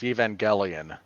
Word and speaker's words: Evangelion: evangelion 19 and finally mortal kombat in the top 20 with 83 million that's a hard g mark it's evangelion evangelion um this weekend the